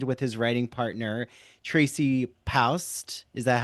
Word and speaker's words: Paust: He pursued acting and performed with his writing partner, Tracy Paust. Is that how you Hmm.